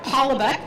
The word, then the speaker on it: Holoubek: Holoubek, did I pronounce that correctly?